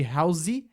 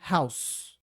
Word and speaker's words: house: Lembrando que é uma sílaba só, tá? Ao invés de house, é house. Igual o jeito que a gente pronuncia o nome daquela bala no Brasil, chamada house, né?